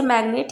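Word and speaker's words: magnet: मतलब कुछ वर्ड्स होते हैं जिनमें जी अगर एन से पहले आया है तो वहाँ पर हम जी को प्रोनाउंस करते हैं। जैसे मैग्नेट, यहाँ पर जी के बाद एन आया लेकिन यहाँ पर जी को हम प्रोनाउंस कर रहे हैं।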